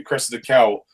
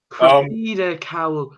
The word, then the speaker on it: Cressida Cowell: based on the books by Cressida Cowell. Cressida Cowell. Cressida Cowell.